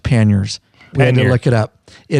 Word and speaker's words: panniers: ears yeah we put some pan it's actually pronounced panniers and they look it up it is that's fine but when you're from Southern Indiana it's pennies it's a pantier the French are cursing you